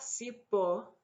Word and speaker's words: cipó: Eu fui cortar cipó, an accent on the O.